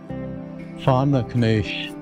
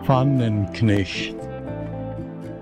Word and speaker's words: Pfannenknecht: richtig ausgesprochen, Pfannerknecht. Hochdeutsch Pfannenknecht.